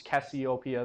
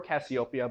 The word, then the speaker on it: Cassiopeia: of Cassiopeia and um which is Cassiopeia the queen or Cassiopeia both ways to pronounce it are correct but um we can